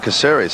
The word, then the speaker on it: Caceres: It's an excellent run by, is it Caceres or Kakera? I pronounce it Caceres, I think.